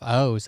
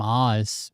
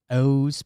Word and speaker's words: Oz: Pearlman I'm 30 he pronounces himself O's I've always called him Oz because that's the way you say Oz But owes Pearlman, they're ready to.